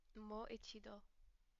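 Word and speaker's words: もう一度: But if you pronounce it as a full sentence, mo ichido, the U is silent.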